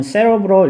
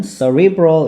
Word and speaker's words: cerebral: 영국식으로 발음하면은 cerebral 이렇게 발음하기도 하고 이제 미국식으로는 cerebral 이렇게 발음하기도 합니다.